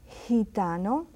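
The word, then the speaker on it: gitano: is as I said when it's next to an E or an i is pronounced very gently it's hente means people hitano means Gypsy and hen General it's just like a j sound in Spanish and then we go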